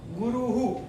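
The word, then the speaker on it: गुरुः: गुरुहु, यहाँ भी उकारांत है, यानी कि उसका उच्चारण विसर्ग का ऊ ही होगा।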